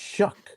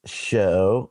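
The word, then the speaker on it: Shough: It says, look, Tyler Shugg's last name is pronounced Shuck. I told you. Rhyming with words like shuck corn or Shuck. Or Shaquille O'Neal, who sells everything. Despite looking like it would be pronounced show or shook or shock or shug, the correct pronunciation is Shuck.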